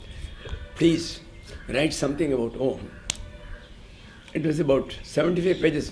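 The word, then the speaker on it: ॐ: So Bhagavan started saying, hey, you should pronounce it as one akshara only. Om, the sorrow. Om.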